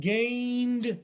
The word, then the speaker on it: gained: the vowel there and gained is again one of those words that has we can all say it together a diphthong remember the diphthong two vowels on one syllable it's easy but i'm